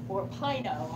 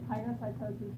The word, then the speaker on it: pinocytosis: But I usually say pinocytosis because it rhymes with, I think this is a word for it. It rhymes with wine and wino drink. Pino, wino.